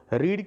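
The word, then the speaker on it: read: रीड की third form रीड ही होती है, स्पेलिंग तो यही रहती है, सिर्फ बोलते उसे रेड है।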